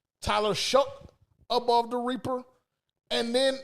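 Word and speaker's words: Shough: Am I pronouncing that right? Shook. Tyler Shuck above the Reaper.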